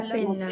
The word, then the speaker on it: penna: Debajo, La penna. Pena. la penna. Atención a duplicar esa N.